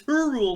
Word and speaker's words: Hyrule: It's Hyrule. I'm like, what the fuck are you high? I mean, like all the letters.